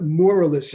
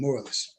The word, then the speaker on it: Morelus: So here's a little info about Guy Theodore Morelus, is how you say his last name, Morelus.